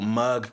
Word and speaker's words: Muggd: Um, and so mug came to be. And so the spelling is m u g d. The d is silent, but it's about your mug, right?